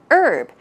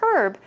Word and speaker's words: herb: It's urb. But especially in British English, yes, they do include the h sound. So you will hear herb from British people.